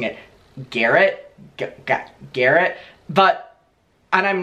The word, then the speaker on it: Garrett: immediate life that are called Garett and I pronounce it Garett and they do as well I think it's like European we pronounce a gar but I know that everyone says I should be pronouncing it Garrett Garrett but and I'm not trying to be